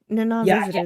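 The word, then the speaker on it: Nana Visitor: Na visitor. That's what you're saying. Yeah. Yeah. I can never pronounce her name.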